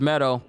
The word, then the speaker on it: Medoh: away from ganon correct yep it's meadow i've been saying it wrong for so many sessions and i apologize to